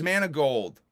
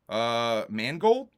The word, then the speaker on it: Mangold: James Manigold, Mangold? I think that's how you say it. James Mangold? Mangold.